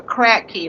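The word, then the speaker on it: Kratky: yes those systems are called the crack key like I was saying k r a t k y I think that's how you spell it but crack key yes you don't have to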